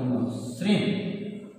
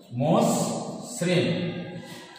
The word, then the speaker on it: মসৃণ: তাহলে উচ্চারণ হবে এরকম, ময়কারে দন্তস্বয় মোস, ময়কারে দন্তস্বয় মোস, দন্তস্বয় রি দন্ত মসৃণ, মসৃণ।